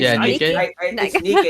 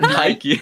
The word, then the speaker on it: Nikke: I thought you pronounce it. Niki, not Nike.